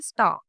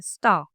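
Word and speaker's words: star: Pronounce करोगे आर को, Indian English में हम स्टार को स्टार ही बोलते हैं, लेकिन ब्रिटिश इंग्लिश में हम क्या बोलते हैं? स्टार। लास्ट का जो आर है उसे साइलेंट कर देते हैं, स्टार।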